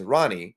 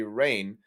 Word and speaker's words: Rahne: on command her her real name is actually rain sinclair spelt r-a-h-n-e now because wolverine's voice actor scott mcneil mispronounced her name as ronnie i at the time when i was like